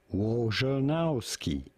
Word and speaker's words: Wojnarowski: We are looking at how to pronounce Adrian Wojnarowski. Wojnarowski.